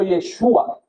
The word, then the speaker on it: Yeshua: Este esta este nombre de Cristo eh se pronuncia en hebreo Yeshua y es muy parecido a Yoshua, que es Josué.